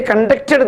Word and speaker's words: conduct: They conducted the games. So by the time the stress will fall on the second syllable.